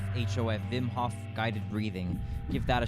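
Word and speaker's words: Wim Hof: check out vim hock wim like whim but it's pronounced vim hof hof vimhoff guided breathing give that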